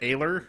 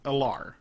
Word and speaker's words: Alar: And he, like, pronounced it Ailer, and I was like, what the fuck is Ailer? Really? And then in the second book, he pronounces it Alar, which is how I always thought of it.